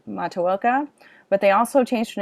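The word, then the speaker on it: Matoaka: that her name is they say it correctly mataoka but they also changed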